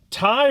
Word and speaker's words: Tygh: Lily Fisher, Julianne Nicholson, Ty Runyon, that's a name, just the way it's spelled is like Tygh, Michael Dreyer, Sarah Paxton, Brian Vincent, a whole bunch of people who are not that important.